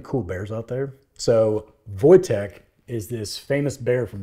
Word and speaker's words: Wojtek: what most people say so it's voch it's a Polish word so like I looked